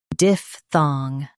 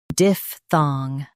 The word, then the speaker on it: diphthong: diph thong diphthong Stress diph and keep thong clear.